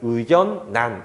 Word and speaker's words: 의견란: 그래서 이 친구를 의견난 이렇게 읽게 되는 거예요.